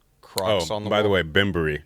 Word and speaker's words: Bembury: there's that much sleigh ben berry croc by the way bimbery just so you guys know no it's okay it's